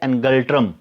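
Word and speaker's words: ngultrum: भूटान का कैपिटल है थिम्फू और इसकी जो करेंसी है वो है एनगल्ट्रम। भूटान की करेंसी है एनगल्ट्रम।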